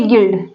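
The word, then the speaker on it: guild: मतलब होता है संघर्ष जी यू आई एल डी तो आप देख रहे हैं आई क्या है वाउल और इसके पहले बीच पहले सबसे पहले जी आया उसके बीच में क्या आया है यू आया है तो य यू यहां पर साइलेंट हुआ इस प्रकार जितने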